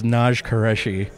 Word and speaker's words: Naj Qureshi: a podcast, and then people come up and mispronounce your name to you. It's funny you say it. It's Naj Qureshi.